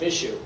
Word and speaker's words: Michaud: All right, I gotta say, it's actually, I pronounce it Michaud. Like, I'm gonna miss you. It's not like a sneeze.